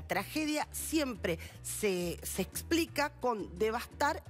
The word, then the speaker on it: devastar: Devastar se escribe sin S. La fórmula desbastar está, es el barbarismo, está mal, y tenemos que pensar